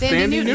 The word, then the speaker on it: Thandie Newton: No, seriously, it's Thandie Newton.